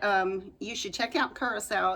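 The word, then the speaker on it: Curaçao: just know that um you should check out Curacao it's spelled c-u-r-a-c-a-o and um oh gosh it is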